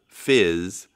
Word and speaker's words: PHYS: We have talked in the past about another one called FYS, that's spelled PHYS, that is designed as a trust